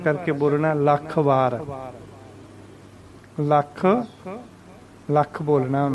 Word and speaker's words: ਲਖ ਵਾਰ: leading प्यारी लगी है वहीं हो वही इसका उच्चारण करना होता तेल फिर ऐसे बोल दे यह सोचिए लखवार लखवार लखवार नहीं कहना लाखणी कहना लल्लन ऊपर आ करके बोलना लाख बार लाखड़ लाख बोलना नो वन लाइक्स थिस 2008